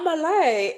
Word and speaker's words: Amahle: You know, here it depends who I'm talking to and how I pronounce this thing. Here people say Amalie. You know, Amalie Amalie, so I'm like, "Ah, Amalie will just move with Amalie. Amalie is okay."